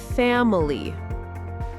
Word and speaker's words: family: Many three syllable words have stress on the first syllable. The first one like two syllable nouns. Exactly. Listen. Family.